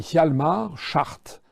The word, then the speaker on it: Hjalmar Schacht: le parcours assez incroyable d'un type qui s'appelait Hjalmar Schacht. Ça s'écrit H-J-A-L-M-A-R, c'est son prénom, et Schacht, c'est S-C-H-A-C-H-T.